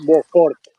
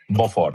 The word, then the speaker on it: Beaufort: No, només això, perquè veig que tenim molts problemes per pronunciar-li el cognom i és bastant més senzill, és Beaufort. En francès, E-A-U-S-O. Beaufort. Per tant, es diu Beaufort.